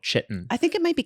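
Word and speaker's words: chitin: or whatever it is is that how it's pronounced doctors say that eating may cause inflammation oh it is kiten uh kiten yeah inter okay thank you producer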